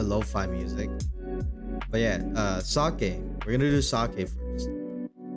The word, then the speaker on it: sake: right now uh I I always cringe when people say it's safe or seike or sake you know like like they like try to pronounce it really hard and honestly do it just sucked just to say sake don't say sake don't say sake say sake it's like you just have to say it fast you know all